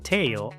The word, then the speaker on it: tail: Esta palabra se pronuncia tail, porque la a se pronuncia ei, la i es muda y la l se pronuncia ol.